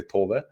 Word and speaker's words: Tove: in Swedish you say Tove, but in the game you say Tove, which is a more Norwegian pronunciation of it.